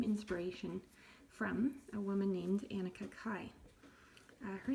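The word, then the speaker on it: Anneke Kaai: But the first thing we need to do is get some inspiration from a woman named Annika Kai. Her name is spelled Annekekaai, and I'm just going to put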